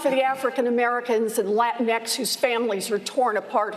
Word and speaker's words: Latinx: It's doing great for people who want to invest in private prisons, just not for the African Americans and Latinx whose families are torn apart, whose lives are destroyed, and whose communities are ruined.